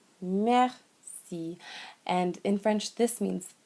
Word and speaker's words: merci: So one phrase that's very important is merci. Merci. Merci.